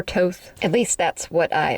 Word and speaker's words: Thoth: It's really kind of up for debate, but most people say it Thoth or Toth.